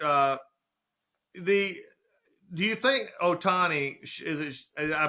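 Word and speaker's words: Ohtani: watching it but uh the do you think Otani is I pronounced that correctly right yeah you did Otani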